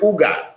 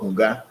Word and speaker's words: Huga: No, there's no word in Ewe called Uga, but there's a word called Huga, because we in Ewe, the H is never silent. It is pronounced.